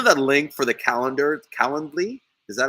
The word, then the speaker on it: Calendly: I even reach out to me and ask me for my Calendly. I have a Calendly. I can't even say it right. You know that link for the calendar, Calendly?